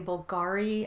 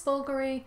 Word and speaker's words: Bulgari: The next bag I sold was a Bulgari handbag, some people say Bulgari (accent on the second syllable). I think it's Bulgari (accent on the first syllable).